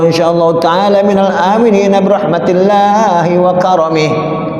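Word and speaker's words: وكرمه: ta'ala minal aminin birahmatillahi wa karamih. Wa karamih pendekin. Enggak ada wal karamih, kagak ada. Harus dipendekin. Wa karamih. Saya buka di YouTube satu ada. Namanya dia bacanya wakiromi. Ya enggak ada wakiromi.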